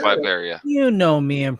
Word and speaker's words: Latveria: I just want to say, I, not being a avid Marvel reader, learning that Latvia adores Doom. Oh yeah. Is it? I thought it's Latveria. Is it Latveria? Yeah, it's Latveria.